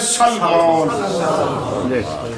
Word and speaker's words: سلمان: سلمان کہہ دیتے ہیں۔ اس کا تلفظ سین کے اوپر زبر ہے، لام کے بعد یہ نہیں ہے، میم ہے، میم کے بعد الف اور پھر نون ہے، تلفظ ہے سلمان۔ وہ نبی جن کا